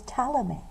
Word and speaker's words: Ptolemy: a guy named Claudius Ptolemy yes it starts with the P but the P is silent so his name is Tala me and his theory is